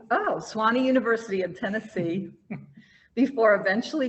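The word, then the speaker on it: Sewanee: at how do you say that name just swanny oh swanny university in tennessee before eventually going on to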